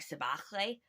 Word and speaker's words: Sibahle: Um, the Sibahle Collection, which I am mispronouncing because the name is Zulu and uses a sound that we don't really use in English. So it's more like Sibahle.